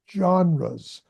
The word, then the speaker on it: genres: Okay, now that's an unusual word and it has an unusual pronunciation that it doesn't look like it should, but the word is genres.